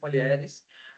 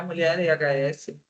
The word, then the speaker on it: Mulheres: mais do Mulheres. O Mulheres é o próprio logo dele, então é Mulheres a pronúncia, não é Mulher EHS.